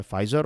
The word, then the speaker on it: Pfizer: कल मैं बोल रहा था Pfizer, लेकिन फिर आप में से एक स्टूडेंट ने कहा कि सर इसका प्रोनाउंसिएशन होता है फाइज़र, और फिर मैंने सर्च किया और फिर मुझे